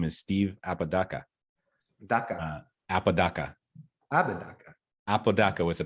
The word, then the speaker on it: Apodaca: this podcast his name is Steve apadaka DACA Apodaca Apodaca with a p yeah right so it